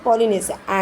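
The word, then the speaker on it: Polynesia: पॉलनेसिया इसको प्रोनाउंसिएशन क्या करें? पॉलिनेशिया।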